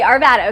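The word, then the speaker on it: Arvada: It said araid uh vada. Arvvada. Bad. Like bad. Like bad. Like Arvvada. Arvad bad. Okay. Arvvada.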